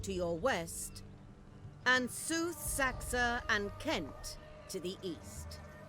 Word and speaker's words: Seaxe: Alright, so we got our first mission, and it was West Saxe, which is good, because now I know how to pronounce that. Also, the C is just a K.